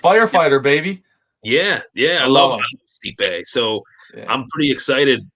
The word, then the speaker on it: Stipe: Yeah, I love Stipe. So I'm pretty excited. How you pronounce it?